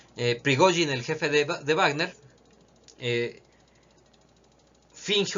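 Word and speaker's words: Пригожин: es un bulo de Yevgeny Prigozhin, que es la manera correcta de pronunciarlo según tengo entendido. Prigozhin, el jefe de Wagner,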